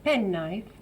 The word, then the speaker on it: penknife: Notate che c'è un K, una K in penknife, però non si dice. Listen. Penknife.